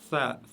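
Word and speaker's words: ثاء: Si vous regardez la lettre tha ici, elle se prononce avec la langue juste derrière les dents, vers le haut, les dents de devant et du haut.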